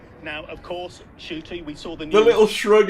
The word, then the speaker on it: Ncuti: genuine nice guy yeah new cootie oh shooty i keep saying it wrong right it's because i